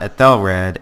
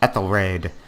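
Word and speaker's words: Æthelred: wrong the entire time it's not Ethel red it's eth so I think at least one person out there had thought I was saying it wrong you are correct I was wrong it's eth raid so we're going to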